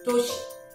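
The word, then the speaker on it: 도시: And there's another is in front where the do like doshi. Doshi. So doshi means a city. Okay, a city. Doshi. So it's not really doshi or toshi, but it's actually doshi.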